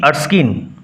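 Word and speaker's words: Erskine: এভয়েডিং present two হি আরস্কিন sorry উচ্চারণ হবে আর স্কিন আগের উচ্চারণটা ভুল করে এর স্কিন বলে ফেলেছিলাম এডিং প্রেজেন্ট টু হিউই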